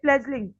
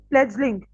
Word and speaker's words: fledgling: Okay, fledgling. 16th is fledgling, a young or inexperienced person. Fledgling. Fledgling. D is silent.